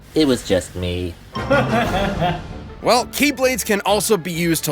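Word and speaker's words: χ-blade: it means the x-blade it's just pronounced like keyblade even though it's just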